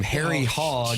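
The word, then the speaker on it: Hoge: That's some from Harry. Hog. Do you pronounce it hog? It's h o g e. Harry and it's h o would be like that. I would try to say hogy if it were me.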